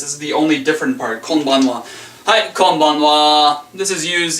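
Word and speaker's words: こんばんは: And it's pronounced konbanwa. As you've noticed, kon is the same as konnichiwa, and we just add ban instead of nichi, and then the wa is the same.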